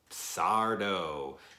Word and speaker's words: Sardo: of the shop is Sardo. No Mr. Accent on the dough.